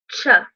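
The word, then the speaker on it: Ч: What looks like a 4 is actually ch.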